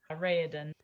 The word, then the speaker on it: Raoden: So the crown prince of the city right next to Elantris, the city of K, Raoden or how did you pronounce his name? Raoden.